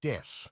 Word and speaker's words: です: of the Japanese word des, Babymetal です。 as des means I am or we are and is pronounced similarly.